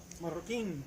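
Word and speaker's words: Marroquin: Joaquin. How do you spell it? Oh, there, M-A-R-R-O-Q-U-I-N. Yes, sir. It sounds like it rhymes with San Joaquin.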